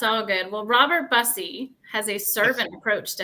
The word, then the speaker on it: Bussey: these beautiful people here what an awesome Jeff mispronounced my name but that's okay did I YY right busy busy I was gonna ask you because I was